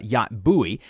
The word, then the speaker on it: Yacht Buoy: because he loves boats now that yacht boy is pronounced in america yacht bowie but it's y-a-c-h-t-b-u-o-y and then 18 months